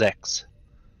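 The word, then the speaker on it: Sechs: It's S is pronounced like with a Z type sound, so it's Zex.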